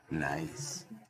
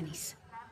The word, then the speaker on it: Nice: Nice. se pronuncia Nis.